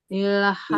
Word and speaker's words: ilhafa: Ilhafa. Ilhafa. Oke, awas di pelafalan lam jangan sampai terlalu syiddah. Jadi tidak ilhafa, tetapi ilhafa. Jadi tidak. Nah, jadi dibacanya lembut. Lembut.